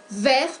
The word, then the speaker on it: vert: Vert pour les masculins, verte pour les féminins. Il y a des différences au niveau de prononciation. En el masculino no pronunciamos la T, vert.